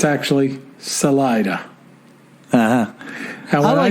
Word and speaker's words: Salida: and then he says salela is actually pronounced Salida not to be confused with